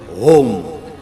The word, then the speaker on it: ओम: कई लोग अ उ म ओम नहीं बोलते, ह बोलते, ओम, ह नहीं, अ उ